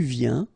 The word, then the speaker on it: viens: And when you combine this IEN, you get this yen, yen.